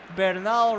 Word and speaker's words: Bernal: And thankfully, Bernal rhymes with Yamal.